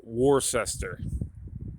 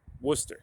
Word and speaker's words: Worcester: different ways up here never pronounce the way it's spelled with new england towns and cities so you know uh like warcester they just call worcester you know but anyway